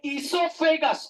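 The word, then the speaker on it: oesophagus: ओ लिखना, ओ साइलेंट है, ई लिखना, बोर्ड पे देखिए, ओ लिखना, ई लिखना, सो लिखना, फे लिखना, कस लिखना। ई सो फे कस।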